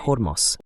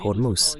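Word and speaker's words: Hormuz: En Persa se pronuncia Hormos.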